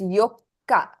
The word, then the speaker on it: Yokka: So you don't pronounce the tsu. Yokka. Fourth is Yokka, whereas eighth is Yoka.